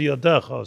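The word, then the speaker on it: ידך: Is a yadcha is a yadecha. So it's written yadcha and it's pronounced yadecha.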